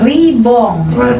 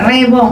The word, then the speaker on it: Ribong: Oke, ribong. Rebong. Oh, rebong. Oh, bacanya rebong ya, kayak rebung gitu.